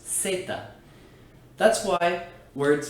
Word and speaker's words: zeta: The letter Z, called zeta in Spanish, tends to cause problems for English speakers because it's actually always pronounced just like the letter S. It's not zeta, it's zeta.